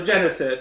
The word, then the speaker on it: Genisys: I'm assuming, well, it's because you say system, so Genisys.